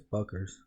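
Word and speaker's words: Bueckers: I think it's Buckers.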